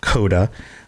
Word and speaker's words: C0DA: All right, so Coda, and it's spelled C0DA, Coda.